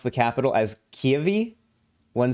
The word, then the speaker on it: Kyiv: news it's important to pronounce the capital as kiavi one syllable not kiev russian versus ukrainian pronunciation oh yeah i always